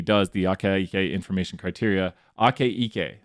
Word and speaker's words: Akaike: the aka information criteria ake ike that's how you say it and we'll talk